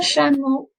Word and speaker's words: chameau: With the C and the H. As in English, it makes a ch sound, but in French, it's a little bit softer, okay? It's a sh sound. Un chameau. And all the vowels at the end make an O sound.